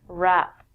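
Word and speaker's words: wrap: it overpowers it we don't say the w and we say this word rap there are two meanings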